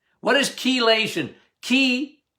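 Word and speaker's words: chelation: take it as um kation what is kation Key C not K we but you you pronounce it with a K kation I like EDTA as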